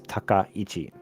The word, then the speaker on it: Takaichi: Her first name is Sanae, S-A-N-A-E, Sanae, and then last name is Takaichi. So you might hear a lot of people pronounce that a lot of different ways.